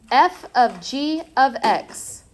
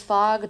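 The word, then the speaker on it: (f ∘ g)(x): Yeah, this is pronounced f of g of x. And if isn't if it isn't my like biggest pet peeve calling this fog, do not call that fog.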